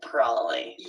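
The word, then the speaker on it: prolly: Still two syllables, but we eliminate the B as well. And it almost looks like it would be spelled P R O L L Y. Proly.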